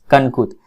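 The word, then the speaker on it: Kankut: English में आप इसको कनकुट भी पढ़ सकते हैं और कनकूत भी पढ़ सकते हैं।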